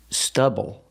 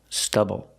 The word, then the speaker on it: stubble: on his face pronunciation use the short uh like cup and up stubble stubble put the stress on